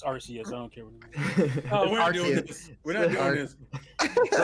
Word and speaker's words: Arceus: pronouncing it right. It's Arceus.